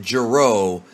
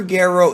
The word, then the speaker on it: Gero: In the English dub, they pronounce it Gero, but that's legitimately wrong. Dr. Gero.